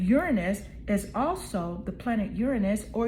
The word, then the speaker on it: Uranus: systems okay and Uranus is also the planet Uranus or Uranus people pronounce it in different ways it's about Freedom